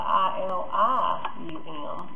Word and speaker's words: ilium: in the hip there's a bone called the i l IU M also pronounced ilium but that's a bone so if